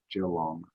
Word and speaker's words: Geelong: We're strange in Australia. We pronounce that Geelong.